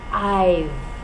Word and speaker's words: I've: letter v e and we pronounce it as one syllable I've so I I have